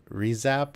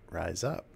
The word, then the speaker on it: RIZAP: club or whatever, that you're supposed to pronounce that rise up, because that's what you're doing.